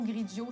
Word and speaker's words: Grigio: nous sommes une grille diot qui se prononce comme finaux griggio c'est un restaurant italien